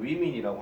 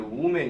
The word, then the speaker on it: women: 근데 발음상으로 얘기할 때 얘를 women이라고 합니다. 우리 학생들, 일부 학생들 중에서는 얘를 woman 이렇게 얘기를 하는데 그렇게 하시면 안 돼요. women이라고 반드시 기억하셔야 됩니다.